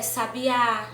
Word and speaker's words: sabiá: Se a minha palavra eu considerei ela oxítona, a minha sílaba tônica é oxítona, então o acento tônico vai ser na última sílaba da palavra, na última sílaba. Como café, sabiá, ok?